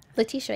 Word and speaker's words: Letitia: Letitia, We yeah.